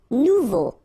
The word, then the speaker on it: nouveau: Nouveau. Remember, combination of E, A, and U together, it's O. So you get nouveau. Okay?